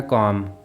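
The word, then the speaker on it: calm: के साथ देखते हैं वर्ड है कॉम यहां देखें एल के बाद एम आ रहा है इसलिए एल साइलेंट है वर्ड है वुड यहां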